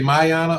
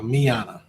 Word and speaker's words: Miyana: Everybody say Mayana, or what do they usually say? Usually, yep. So Miyana. All right, so say it right when y'all hit her up.